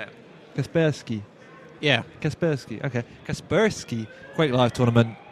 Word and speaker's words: Kaspersky: Yeah, Kasperski.